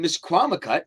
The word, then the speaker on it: Misquamicut: and I tell people you pronounce it just the way it reads and Miss kwam cut I mean that's I